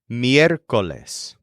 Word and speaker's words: miércoles: The word for Wednesday is miércoles.